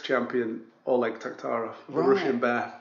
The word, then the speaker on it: Taktarov: Yeah, Taktarov. Named after UFC 6 champion Oleg Taktarov, the Russian bear.